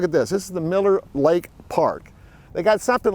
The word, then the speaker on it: Mueller: The way it's pronounced in Austin is Miller. Okay, so let's try this again. Today we're going to talk about housing options in the Mueller District in Austin.